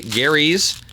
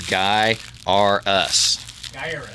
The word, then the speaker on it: Gaiares: you get a free gary's can you say gary's and i cannot because it actually has the pronunciation on there it says guy r us remember that's how you're supposed to say like darius or yeah